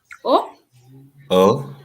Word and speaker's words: eau: have an a so what is the sound e a u in french oh the sound oh like water okay so now that